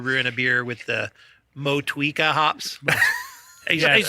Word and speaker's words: Motueka: And he's like when we first told him we were brewing a beer with the Motueka hops. He's like, that's not how it's pronounced. It's Moshweka.